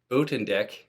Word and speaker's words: Buitendijk: is Ben Buitendijk, and that's a Dutch name, and if you actually saw the pronunciation of it, I'll put it down below, you would recognize it probably the way that I'm saying it.